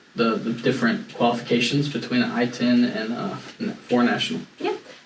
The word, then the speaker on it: ITIN: Hispanic population we discussed maybe itin is that how you say it I-10 I-10 I-10 and uh four Nationals